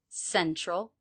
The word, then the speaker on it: central: Central. Stressed syllable of central is the first one. Sen, sen. The second syllable has the schwa, troll, troll, troll. Central, central, central.